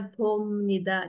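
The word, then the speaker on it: 봅니다: Bacanya bomnida. Jadi Pom, pakai M. Bomnida.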